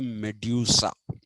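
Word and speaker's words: Méduse: the raft of the Medusa Medusa is an English in engl uh in French it is medus m e d s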